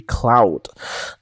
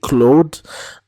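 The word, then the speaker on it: Claude: French you would say Cloe uh but um uh in more recent artist introductions he pronounces his name as Cloud because it's the way you would say it in Dutch and uh by the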